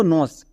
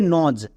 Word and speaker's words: nose: একে অনেকেই ভুল করে উচ্চারণ করছো নস, বাট এটা সম্পূর্ণ ভুল। এর উচ্চারণটা হবে নজ।